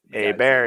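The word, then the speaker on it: Hebert: was that was a bear that's how he pronounced thing a bear yeah and it's spelled the same and this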